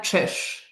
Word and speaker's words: Czyz: Can you pronounce it again your full name? It's Magdalina Trish. Magdalina Trish.